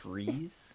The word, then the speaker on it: Fries: It's Freeze? It's spelled like fries, but don't eat me.